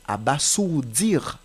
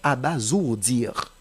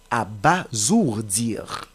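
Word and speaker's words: abasourdir: mot à base dire en général les gens prononcent abasour dire non c'est abasour dire parce que le S qui se trouve entre a et o doit se prononcer comme Z parce que a et o se considèent comme deux voyelles ce n'est pas à bassourdir c'est plutôt à basourd dire 2e mot à prononciation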